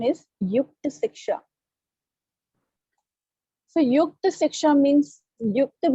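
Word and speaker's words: Yukta Shiksha: The pronunciation is Yukta Siksha.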